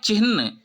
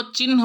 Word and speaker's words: चिह्न: है उच्चारण है चीन उच्चारण है चिन्ह कभी भी इसको चिह्न उच्चरित नहीं करें ठीक नहीं है देखिए